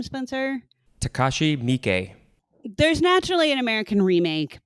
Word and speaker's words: Takashi Miike: Takashi Miike.